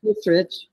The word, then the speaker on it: Hissrich: How do you pronounce that? Hissrich.